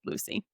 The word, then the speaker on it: Lucy: Who I read as loose, but in the audio book is pronounced Lucy.